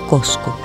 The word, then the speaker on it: Cusco: Cuenta Garcilaso que Cusco era el ombligo del universo. Su etimología alude al amontonamiento de piedras y su pronunciación original habría sido Cosco.